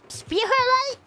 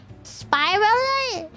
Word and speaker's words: Spiralite: Is it speite? Beautiful light spy helm picked them up for you. Yeah. No wonder I didn't know why I had them. Spiralite. That's how you say it.